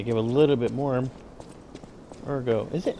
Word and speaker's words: Ergo: down girl they give a little bit more Ergo is it Ergo now I got to know yeah there we